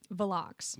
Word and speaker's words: Velox: what how what is the pronun the correct pronunciation of your company vck vck okay how many times has it been